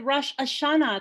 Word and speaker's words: Rosh Hashanah: Susan, will a blessed Rosh Hashanah to you. Did I say that correctly? No, actually it's Rosh with a long O sound, and Hashanah, Rosh means head, Ha means the, and Shana means year.